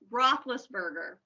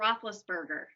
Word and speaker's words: Roethlisberger: Roethlisberger. Oh, how do you say it? Roethlisberger.